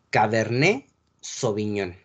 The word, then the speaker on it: cabernet sauvignon: la uva cabernet sauvignon latte no se pronuncia sale al final de la de las palabras francesas la t la el elefante y la s de serpiente no se pronuncia al final de las palabras francesas entonces la pronunciación es cabernet sauvignon la uva tinta de